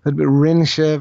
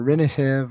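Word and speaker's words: rinnfheitheamh: you know, and again, there are different areas in Ireland, so different ways it would be pronounced, but rinshiv or rinishiv or something like that.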